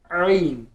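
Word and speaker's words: عين: आइन गले के बीच वाले हिस्से से, middle part of your throat.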